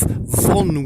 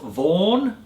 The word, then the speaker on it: Vaughan: by that German composer Ralph Vaughan Williams poetry pronounced von vm's and that wonderful piece